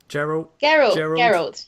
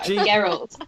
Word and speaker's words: Geralt: And then last bit of news, and I'm going to pronounce his name wrong. Rebecca told me how to say it. Geralt. Geralt.